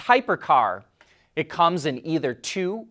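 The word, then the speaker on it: Hipercar: revealed its first ev its name looks like hipper car which stands for high performance carbon reduction but we think it's pronounced hypercar it comes in either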